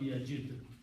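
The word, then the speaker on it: يجد: And so last letter is not pronounced, so this becomes yajid.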